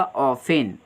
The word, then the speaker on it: often: बल्कि इसका मतलब होगा ऑफेन। ऑफेन का मतलब होता है OFTEN वाला है, जहाँ टी साइलेंट होता है ऑफेन पढ़ा जाता है।